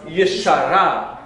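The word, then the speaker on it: ישרה: I added a syllable, so I have to shorten the first syllable. So now it's yishara.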